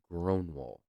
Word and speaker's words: Grönwall: Grönwall.